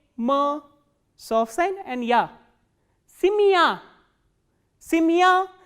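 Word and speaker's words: семья: Simya. Simya, as you can hear that this ya sound is pronounced as a combination of two sounds, which is e kratke and plus a sound.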